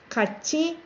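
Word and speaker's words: 같이: has to be conjugated catchy as you heard I didn't say cut T you pronounce T SCH catchy means together man do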